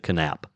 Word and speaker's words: Knap: KN A P and he pronounced the K. He pronounced it canap. It's either canap or nap, but uh hey Jinger, you can always uh you can always send me corrections.